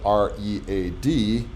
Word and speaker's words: read: in english language called r-e-a-d and depending on how i choose to pronounce it it's either present or past tense of reading i read or i read just